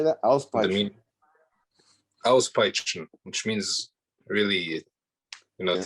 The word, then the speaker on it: Auspeitschen: Auspeitschen.